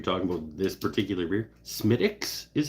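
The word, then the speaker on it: Smithwick's: about this particular beer smiix is how it's pronounced really they should smell it they should spell it different though smiix all right uh apparently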